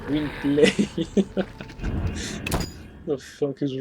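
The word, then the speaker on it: Gwynbleidd: It's pronounced Gwynblade.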